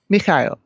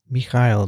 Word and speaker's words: Mikhail: the audio file with the proper russian pronunciation of my first name he gave gives the link you're sincerely mike and i listened to it about five times and it sounded about like mikhail perfect mikhail now in uh ohio portland